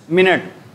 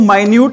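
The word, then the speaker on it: minute: क्या बोलते हो बेटा, मिनट। इसको बेटा सेम स्पेलिंग है ना, इसको माइन्यूट भी बोलते हैं, इसको मिनट भी बोलते हैं बेटा, और इसको क्या बोलते हैं, माइन्यूट भी बोलते हैं।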